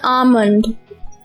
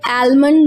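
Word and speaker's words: almond: बादाम, बादाम का हम लोग शरबत भी बनाते हैं, तो इसको हम कहते हैं आमंड, आमंड। आलमंड नहीं बोलते, ज्यादा बेहतर प्रोनाउंसिएशन है आमंड।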